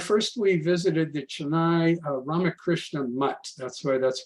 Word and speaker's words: Ramakrishna Mutt: So in Chennai, first we visited the Chennai Ramakrishna Mutt. That's the way that's pronounced.